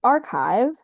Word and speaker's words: arXiv: the microboom collaboration on arsive. I'm only now remembering that archive is is supposed to be pronounced archive because the X is a Greek letter Kai.